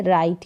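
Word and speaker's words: write: तो क्या बोलेंगे राइट यहां पर डब्लू जो है वह साइलेंट रहता है आर आई टी ई से उच्चारण हो रहा है राइट यहां पर ई भी जो है क्या है वह साइलेंट ही रहेगा ई का साउंड आ ही नहीं रहा तो डब्लू आर आई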